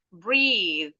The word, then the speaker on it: breathe: Jadi kalau ada e-nya itu th-nya pasti voice di belakang. Breathe ada e-nya. Bathe ada e-nya.